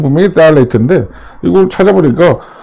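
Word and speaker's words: phthalate: 그래서 보면 프탈레이트는 발음 자체가 잘못됐다. 풀자는 빼야 된다. 딸레이트 이렇게 발음하는 게 맞는 것 같아요. 그래서 이제 이게 발음결은 분명히 딸레이트인데 이걸 찾아보니까 발음은 나와 있지 않고 비슷한 말들이 발음이 소개가 되더군요.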